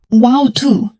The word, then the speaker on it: water: In English, the word water sounds different in American English and British English. In American English, people say, water. In British English, people say, wow too. Both are correct.